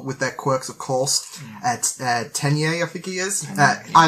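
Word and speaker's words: Tenya: I'm worried I'm going to be pronouncing these wrong. No, Katsuki's right. Tenye is right.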